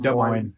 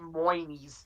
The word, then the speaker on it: Des Moines: That's just Des Moines. No S's. Des Moines. Just Moinies.